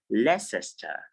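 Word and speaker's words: Leicester: eating ever ever ever or it can also be pronounced as lessester lescester depending on the realization like i told you there are various pronunciations for for a particular word because we have various variants of english but for this class we will pronounce this word as lessester less esther yes so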